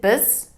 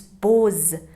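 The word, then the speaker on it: بوس: would have a problem is it biz biz baz no it's bose it helps me pronounce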